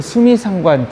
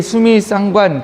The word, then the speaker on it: 수미상관: 사랑하는 성도 여러분, 시편을 읽을 때 시편은 주로 영어로는 인클루지오 구조라고 이야기하고요, 한글로는 수미상관 구조라고 이야기하는데, 수미상관이라고 발음하기도 하고 수미쌍관이라고 발음하는 분들도 있습니다. 그런데 이 수미쌍관 구조로 시편을 읽는 경우가 굉장히 많이 있는데, 오늘 말씀도 그렇습니다.